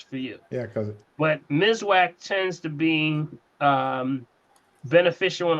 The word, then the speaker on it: Miswak: That's why if you have an issue with that, that's we bring your attention over to the Mizwack, the natural Mizwack sticks. Okay, the Mizwack sticks is spelled Miswak, and that's considered to be nature's toothbrush.